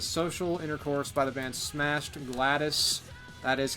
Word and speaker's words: Smashed Gladys: And the last vinyl record I picked up was Social Intercourse by the band Smashed Gladys. That is how it's pronounced.